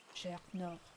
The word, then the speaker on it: Journeau: I pronounce it the French way. Journeau.